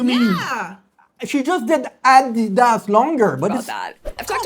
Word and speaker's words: Adidas: My shoes, they're Adidas.